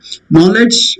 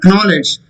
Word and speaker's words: knowledge: Knowledge, it's not knowledge. K is silent.